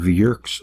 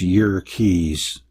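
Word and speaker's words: Yerkes: States Naval Observatory and Dr W hiltner of JK's Observatory actually it's y Keys Wikipedia says to pronounce it that way y Keys Observatory found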